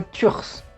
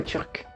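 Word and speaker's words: turque: Donc, si on ajoute un E, tout simplement, ça sera turs. Et ça ne ressemble plus du tout à turc.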